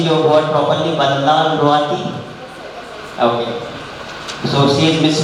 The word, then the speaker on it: Vanlalruati: Am I pronouncing your word properly? Vanlalruati? Okay. So she is Miss Vanlalruati from Mizoram University as well.